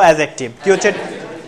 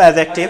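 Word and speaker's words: adjective: বলি এডজেক্টিভ কি বলি বলি তো ডিটাও অনুচ্চারিত থাকবে বলবো এডজেক্টিভ সবাই একটু বলি তো এডজেক্টিভ এডজেক্টিভ আবারো এডজেক্টিভ বলি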